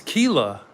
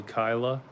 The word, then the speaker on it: Keila: I think it's Keela. Right? Isn't it Keela? I think I was pronouncing it wrong before when you said people were spelling it Keila, so then I would say Kyla. But but then you corrected me and I think it was Keela.